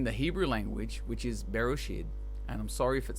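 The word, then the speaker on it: בראשית: But anyway, it's Bereshit. It's spelled Bereshit, and I want to look at the depth of the meaning.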